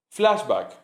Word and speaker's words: flashback: Flashback se escribe como en inglés, se pronuncia como en inglés, crudo.